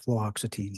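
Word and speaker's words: fluoxetine: extine I have difficulty with that as well fluoxitine fluoxitine thank you yes I'll say it wrong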